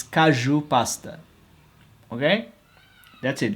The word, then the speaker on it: caju: If you are not Brazilian, you should properly pronunciate, okay? It's caju pasta, okay? That's it. It's caju pasta, metcas, caju pasta with cheese and bread and espresso.